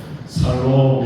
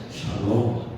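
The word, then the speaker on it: שלום: 그러면 발음을 잘 해야 돼요. 살롬 이렇게 하지 말고 그것도 참 좋은 표현이 하겠지만 우리가 샬롬 우리 죽을 놈이 아니에요. 우리 샬롬 평안이에요. 우리 옆에 분들에게 샬롬 인사하죠.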